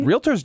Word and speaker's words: realtor: kind of don't we Realtors don't Realtors don't anybody who knows the profession doesn't and the way it looks it should be like realtor yes it's a how it's spelled right Pastor real Tor there we go so